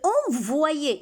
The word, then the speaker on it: envoyer: Je veux envoyer, ici c'est comme si on a un I avant Y, on a dit Y se lit deux fois. Une fois avec chaque syllabe.